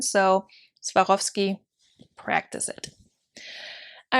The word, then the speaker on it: Swarovski: there you have it swarovski or swarovski i feel like it's harder to say with the american accent like the americanized version is harder to say than the german so swarovski practice it all right